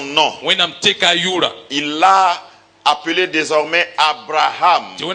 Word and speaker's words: Abraham: Il l'a appelé désormais Abraham. Et le H muet qui est dans son nom, c'est la lettre principale dans le nom de Yahweh.